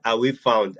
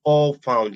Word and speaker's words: All Found: For instance, if you take a look at our brand name, All Found, people pronounce it Away Found. I will laugh. It's actually All Found, like awesome, all found.